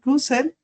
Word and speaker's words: Russell: Hoy tenemos el placer de tener invitado a el doctor Gabriel Russell. ¿Lo dije bien? Russell, se pronuncia como Russell, Russell.